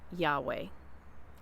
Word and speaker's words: Yahweh: name back in now i pronounce his name yahweh we don't know exactly how